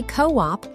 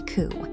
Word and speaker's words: coup: If you say co-op, you are talking about a chicken cage. The P is completely silent here, so we say coup. Like, the rebels attempted a military coup.